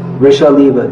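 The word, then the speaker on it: वृषलीव: Diti is being described as Vrishaliva, not Vrishaliva. Matter of pronunciation. Vrishaliva, just like a prostitute.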